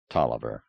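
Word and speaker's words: Taliaferro: whopping wench humping Aristocrat spelled it the long way and pronounced it the short way I'm sorry you told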